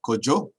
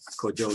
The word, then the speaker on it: Kojo: name of Kojo, or as they say there, Kojo, which is the actual pronunciation, Kojo.